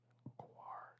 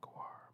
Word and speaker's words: coir: you might add coconut coir to improve its water holding capacity. It looks like it's pronounced coir. It's like noir, but with a C.